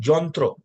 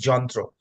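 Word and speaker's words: যন্ত্র: reside now it all means the same thing Jontthro so the pronunciation is Jontthro which is written in English as a yantra but otherwise the pronunciation is jantro. So jantro and from the word jantro it becomes jantra na.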